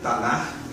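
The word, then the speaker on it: Tanakh: E nós fomos então ao original da Bíblia judaica, da Bíblia hebraica, o Tanar, essa letra CH no final pronuncia-se como R plural, Tanar, e lá buscar as evidências.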